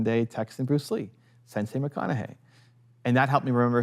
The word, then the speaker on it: McConaughey: So that's why I led with your modern day Texan Bruce Lee, Sensei McConaughey. And that helped me remember his name because I was so terrified I was gonna get it wrong. McConaughey.